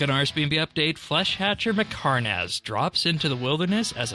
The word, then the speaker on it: Mhekarnahz: Flesh Hatcher Mhekarnahz. I think that's how we're saying Pronounced it perfectly.